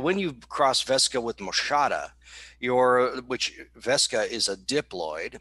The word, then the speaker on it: moschata: Fragaria vesca and Fragaria moschata, I think is how it's pronounced. Yeah, moschata.